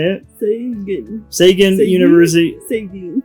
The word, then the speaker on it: Sagan: Sagan. I always thought it would like singing or something. I don't know. No, you say the G.